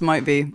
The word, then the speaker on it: MYTBE: you say it um no it's pronounced might be and almost every radio DJ has got it wrong until now so here